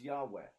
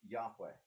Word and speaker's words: Yahweh: the puzzling name yhw a name whose pronunciation is was the time because the Israelites won't speak it out loud we think it was Yahweh the Germanic transliteration of